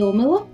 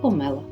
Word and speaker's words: омела: цьому відео До речі омела слово з подвійним наголосом Тобто можна говорити і омела і омела давні уявлення про омелу